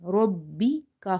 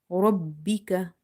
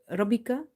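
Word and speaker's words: رَبِّكَ: Robbi ka fatha ka. Robbika. Robbika. Emphasize on ba in order to pronounce it twice. If you say Rabbika, you will miss one ba.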